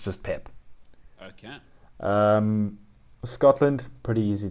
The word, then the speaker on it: Pepe: pep uh is is exactly that it's just pip okay um scotland pretty easy to pronounce russia there's two names here i don't